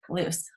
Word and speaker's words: Luz: Welcome, Luz. We're so glad you're here. Luz. I keep saying it wrong. I keep wanting to say it with a Z, but it's like an S, right? Luz. Okay.